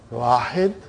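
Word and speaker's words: واحد: The way they pronounce, it will be, they won't say Wahidun.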